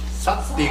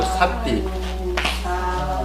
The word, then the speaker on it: sati: 쌉띠가 아니고 삿띠.